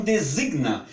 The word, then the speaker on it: designa: do que adapta porque quando essa palavra vamos falar que designa não tem um G aqui por isso que nós devemos devemos possua pronunciar com um designa esse G vai ficar 1gb praticamente quase inaudível resina designa muito bem